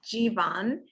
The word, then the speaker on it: Jeevan: name it is it i just say keep it simple alphabet g number one yeah exactly well thanks